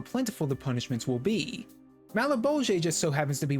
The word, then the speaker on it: Malebolge: The first door is Malebolge, which I used to pronounce as male bulge before looking up the pronunciation, so there's that.